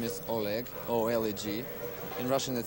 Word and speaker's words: Oleg: my name is Oleg oledg in Russian it sounds like Americans would just pronounce it Oleg friends call me and